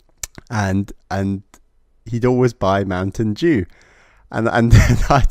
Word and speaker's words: Mountain Dew: he'd always buy Mountain Dew, and then I'd say "Oh, Uncle, can I have some Mountain Dew?" And he'd be like, "What? Mountain Dew?" Because obviously Americans say Dew, not Dew.